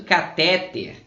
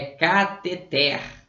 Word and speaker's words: cateter: A galerinha fala muito catéter. Alguns falam até catétere. Mas é muito difícil você encontrar a palavra cateter. E essa é a correta, né? Catéter não existe, catétere também não. É cateter.